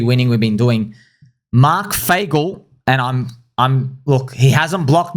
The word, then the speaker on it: Fagel: Who's Mark Fagel? Mark rhymes with bagel.